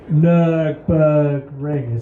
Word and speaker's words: Nürburgring: Nürburgring.